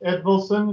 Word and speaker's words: Edvilson: Terry, your last name is pronounced Edvilson, is that correct?